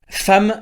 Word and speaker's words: femme: mais ces quatre heures femme ça s'écrit avec un e et ça se prononce avec un a dès le début on